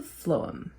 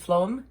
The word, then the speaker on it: phloem: The other one is called the phloem, spelled with a PH.